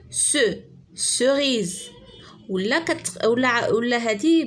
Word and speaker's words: cerise: D'accord, cerise. C'est avec I, la même chose, se prononce si, comme citron, ciboulette. Il y a plusieurs mots.